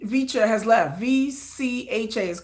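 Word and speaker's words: VCHA: But another member of of V vicha has left. Va is pronounced vicha but another member of vich has left.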